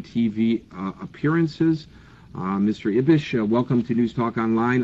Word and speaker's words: Ibish: sure you'll correct it it's ibish actually ibish ibish thank you I just put the I put the uh emphasis on the wrong syllable uh Hussein is